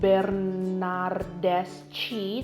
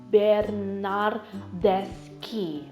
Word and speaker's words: Bernardeschi: ada CH itu ada hak ditengah c&i itu dibacanya jadikah gitu Jadi bukan bernardeschi tapi Bernard desky Oke Nah selanjutnya ada ciro immobile ciro immobile